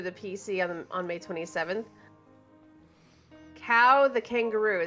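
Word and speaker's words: Kao: Cow the Kangaroo, that's K-A-O, Cow.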